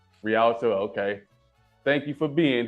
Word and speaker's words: Rialto: So, shout out Dolores from I don't know how to pronounce that. Relito, California. Rialto. Rialto.